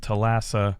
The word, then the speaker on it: Thalassa: The Thalassa, they Okay, so it's pronounced Thalassa, I guess.